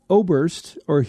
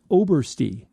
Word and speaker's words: Oberst: A listener named Dan Oberst, he gave me the pronunciation. It's Obersty. And now that I see it, I think I was wrong all these years. Yes, it is Obersty.